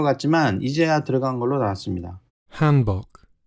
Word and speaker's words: Hanbok: Hanbok. Hanbok. 영어는 이제 A 발음을 거의 hand로 하기 때문에 영국에서는 한이라고 하는 것 같고 발음이 거기서 좀 차이가 나는 것 같습니다.